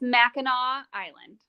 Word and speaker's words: Mackinac Island: It's Mackinac Island. Mackinac Island. So it's spelled Mackinac, Uh-huh.